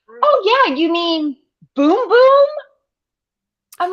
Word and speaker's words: Bum Bum: thought it was Brazilian bum bum cream and I'm like what what does anyone think this is and then apparently it's boom boom not bum bum but it's spelled b-u-m I'm just mispronouncing it